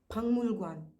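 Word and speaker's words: 박물관: But whenever they want to pronounce a particular word, for example, pangmulgwan, pangmulgwan means museum. The way it is spelled is different from the way it is pronounced.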